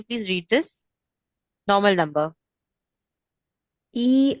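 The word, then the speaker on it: 一: So in Chinese language one which is known as e is actually pronounced as yao whenever we are talking or speaking telephone numbers, room numbers and bus number.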